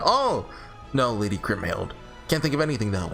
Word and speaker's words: Kriemhild: I'm saying your name right. Kriemhild? Kriemhild? I think it's Kriemhild. Oh, that's a cool sword. Her name was Kriemhild.